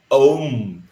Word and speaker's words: ओम: ओम में तीन सिलेबल अ उ म ओम। लेकिन हम लोग क्या ऐसे बोलते हैं ओम अज्ञानतिस ऐसे बोलते हैं क्या ओम अज्ञानस राज प्रभु तीन अ उ मही तीन आता है उच्चारण से ही आ जाता है क्लियर ओके इसका अनुवाद